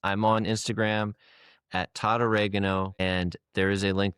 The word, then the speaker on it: Basil: I The way I was saying your name, I said it right, Basil, right?